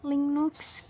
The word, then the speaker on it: Linux: Linux diucapkan Linux adalah jenis sistem operasi open source yang kode pemrogramannya source code, dapat dimodifikasi dan didistribusikan tanpa memerlukan lisensi.